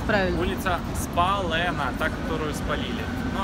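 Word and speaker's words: Spálená: Вов, как читается правильно? Улица Спалена, та, которую спалили.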